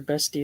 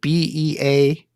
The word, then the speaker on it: bestie: So it's actually that's my bestie. Bestie. Okay, Not beastie. because it's spelled Beastie. It sounds like beastie. Yeah, it sounds like beastie, but it's bestie.